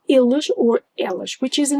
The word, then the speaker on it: eles: And watch out for the first E in eles, as I just mentioned. It's not eles, it's eles.